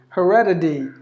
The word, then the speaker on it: heredity: Heredity, they would say, because the T is in between the vowels, so the T is pronounced like the D.